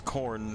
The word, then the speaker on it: Khorne: Yes, like on the cob, but spelled fun. It is not spelled like Khorne the band either. No, it's Khorne. It's English, remember, so there's a whole bunch of consonants that don't do anything in the word.